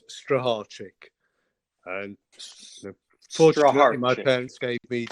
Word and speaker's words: Strycharczyk: Poland it's uh it's a mouthful so it's pronounced strategic um my parents gave me or